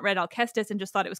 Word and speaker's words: Alcestis: clarification for my listeners I'm gonna say alus because I always had have but I recognize that alus is also a valid pronunciation in English um but alus is